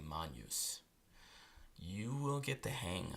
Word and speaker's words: magnus: an S lastly there's the GN combination sounds like the NY in Canyon so we don't say Magnus we say Mon use you will get the